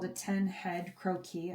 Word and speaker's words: croquis: And if we measure this out, it's usually called a 10 head croquis. I guess croquis is the right way to say it.